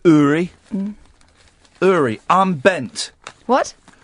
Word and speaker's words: Uri: His name's pronounced Uri.